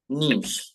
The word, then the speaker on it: niche: ഇത് നീഷേ അല്ലെങ്കിൽ നീ എന്നൊക്കെ വായിക്കാറുണ്ട് ഇതിന്റെ ശരിയായിട്ടുള്ള ഉച്ചാരണം നീ എന്നാണ് എന്താണ് നീഷ് നീഷ് നീഷ് എന്താ വായിക്കേണ്ടത് ആരുടെ മൈക്കിൽ നിന്ന് ശബ്ദം വരുന്നുണ്ടല്ലോ